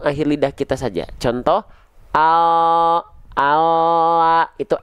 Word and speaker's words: Allah: Allah, nampak bagian lidah lebih penuh menyentuh ke langit-langit. Allah, Allah, itu lam. Tapi kalau huruf L pada